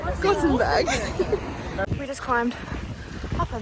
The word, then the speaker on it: Gothenburg: Is it Gothenburg or Gothenburg? Gothenburg.